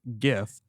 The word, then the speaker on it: GIF: did you hear that that's a hard g gif uh and it was